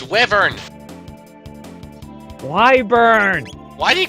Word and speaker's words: wyvern: monster in all the series is known as wyburn it is just it's just awesome where it's wyvern wyburn why do you call it that that was gold no it's a the term is pronounced wyvern no actually that wasn't the first time that